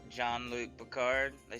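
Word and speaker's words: Gean: came into town and the merchant named uh John see you had to think for a second no I just tried to pronounce it the way you guys pronounce it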